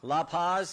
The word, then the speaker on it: La Paz: are and I want to make sure I pronounce these loophos Lou Lou Paz like to say that County right La Paz okay County Sheriff that's that's what a Buckeye